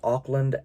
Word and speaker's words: Auckland: root would have been sydney i think it's pronounced auckland a-u-c-k-l-a-n-d uh this one i think is pronounced